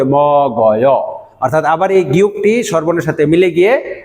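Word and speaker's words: 먹어: এইভাবে উচ্চারণ হবে ম গয়।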